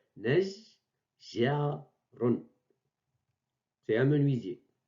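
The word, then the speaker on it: نَجَّارٌ: Et on prononce Najjarun. Donc, j'ai prononcé deux fois G. Najjarun.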